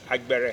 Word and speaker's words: Agbere: Agbere, is that the Agbere. correct pronunciation? Agbere.